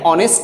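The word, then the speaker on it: honest: এখন এখানে অনেকে এটা উচ্চারণ হনেস্ট করে, হনেস্ট না, এখানে এইচটা উচ্চারণ হবে না। এই জন্য এখানে আমরা কি ব্যবহার করব? এন ব্যবহার করব, এন অনেস্ট ম্যান।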